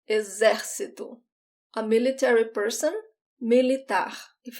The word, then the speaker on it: exército: Army, military, exército, exército. In this word, the X sounds like a Z, exército.